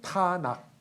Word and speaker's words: 타낙: 그런데 TNK 하면 여러분들 좀 발음하기 어렵잖아요. 그러니까 거기다가 가운데 A자를 붙여요. 그래서 타낙 TANAK 그래서 타낙 하면은 이게 구약 성경입니다.